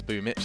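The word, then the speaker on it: Boombl4: That's Boom Mitch. That's apparently how you pronounce that from the Cyrillic.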